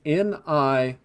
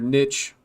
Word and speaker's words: niche: And I actually Googled this one, and apparently they're both acceptable pronunciations of that word, niche and niche.